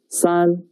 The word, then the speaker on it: 三: about three horizontals yes it means three the pronunciation is son let's write it together pay attention the top